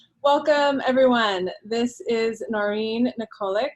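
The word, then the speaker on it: Nikolić: everyone this is noreen nicolek am i pronouncing your last name right it's nicholitch nicholas i realize i've never said it out loud so i've only been saying it in my head nicholas and she's joining us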